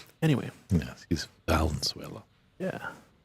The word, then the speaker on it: Valenzuela: Valenzuela. That's how you pronounce it. Different than the country of Venezuela, if you didn't know.